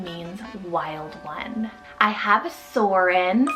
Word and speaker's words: Soren: I have Soren, spelled S-O-R-E-N, Soren.